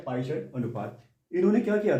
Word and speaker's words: Poisson: एक टर्म है जिसका नाम है पायसन रेशियो। एक्चुअली इसका नाम है पॉइजन्स रेशियो। हम इसे अलग अलग तरीके से प्रोनाउंसिएशन करते हैं। कुछ लोग पॉइजन्स रेशियो, कुछ लोग पायसन रेशियो, हिंदी में इसको पायसन अनुपात के नाम से जानते हैं।